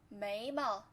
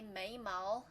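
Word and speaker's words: 眉毛: 眉毛眉毛 Don't say 眉毛 if you know the pronunciation of this character, because when describing any parts of your face, most of the time we use slight tone for the second character.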